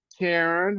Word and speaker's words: Karan: Sharon, and I'm Aaron. Wow. So actually, my name is spelled Aran. Mhm. Sharon is spelled Sharan, and Mhm. Karen is spelled Karan.